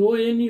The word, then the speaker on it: one: Here one, a spelling O-N-E, one, but the pronunciation is consonant. So according to pronunciation, we use here a 1 rupee note. He is blind of a one eye.